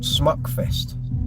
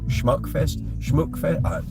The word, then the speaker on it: Smukfest: We did a festival called Smukfest. I don't know how you pronounce it. S-M-U-K. There's an umlaut over the U. So Schmuckfest.